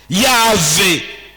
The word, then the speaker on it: Yahvé: voyelle na kati, tozala à mesure ya ko prononcer. Yahvé.